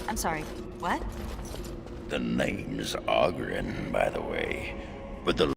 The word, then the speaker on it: Ogren: The name's Ogren, by the way. But the ladies pronounce it Ogren.